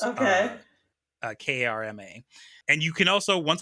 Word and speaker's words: Karma: Manfred von Karma, and it is spelled exactly how it sounds. Okay. Karma.